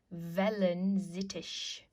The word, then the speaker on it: Wellensittich: Remember you pronounce W's like a V sound, Wellensittich.